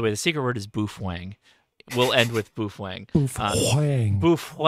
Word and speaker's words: boofwang: By the way, the secret word is boofwang. We'll end with boofwang. Boofwang. Boofwang. Thank you, Randy. Thank you, Andy. The secret word is boofwang. B-O-O-F-W-A-N-G. Boofwang. It rhymes with cool whip.